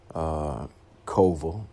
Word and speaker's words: Kowal: Kowal is the proper way to pronounce her last name.